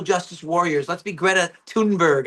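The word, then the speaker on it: Thunberg: Let's be Greta Tunberg. I guess I was pronouncing it wrong this whole time. Tunberg.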